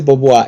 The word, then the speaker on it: Beauvoir: Aunque claro, dice Beauvoir y se pronuncia Beauvoir.